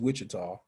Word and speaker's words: Wichita: then the uh and that's how that is pronounced is wichita so let's get out of this escape out